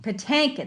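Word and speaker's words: Patinkin: say his name mandy paddy mandy mandy pattankin patankan that's right yeah and i feel bad because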